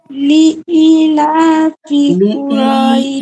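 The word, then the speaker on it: لإيلاف: রাজিম বিসমিল্লাহির রাহমানির রাহিম লিলাফি ইতে মাদ আছে হ্যাঁ লি একটু টানতে হবে লিলাফি কুরাইশ কুরাইশ রাইতে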